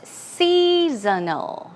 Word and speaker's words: seasonal: Here, the pronunciation is seasonal, seasonal, seasonal. It's more like snow, seasonal.